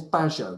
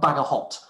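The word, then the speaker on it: Bagehot: His name is Bajo. That's pronounced Bajo, not Bagahot, as I used to think.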